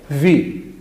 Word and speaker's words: وہ: غلط بولا جاتا ہے۔ ہم اکثر وہی کہتے ہیں، غلط ہے، وی درست تلفظ ہے اس کا، وی۔ یعنی کہ وہی نہیں بولنا، آپ نے اس کو بولنا ہے جی وی، یہ اس کا درست ہے۔ اور تیسرا ہے جی